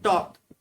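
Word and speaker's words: talk: Fifth word है टॉक, टॉक में third letter L silent रहता है।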